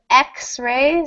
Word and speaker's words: X-ray: indefinite and it is X is a consonant letter but the word xray starts with a vowel sound e so n xray double